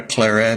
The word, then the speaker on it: Claret: a r t well I don't think it has a French sound to it I think it should be an English sound I think it should